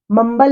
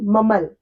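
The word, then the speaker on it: mumble: बड़बड़ाना, ममल, मम्बल नहीं ममल, इसमें B silent है।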